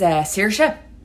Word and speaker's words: Saoirse: The name for the order is Saoirse, like inertia.